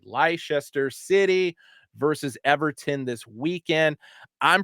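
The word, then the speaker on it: Leicester City: happen uh ler Lester City I can never pronounce it correctly Lester City versus Everton this weekend I'm predicting a draw predicting a draw Lester see I keep reading everything phonetically leester city thank you it's like wora like Worchester Massachusetts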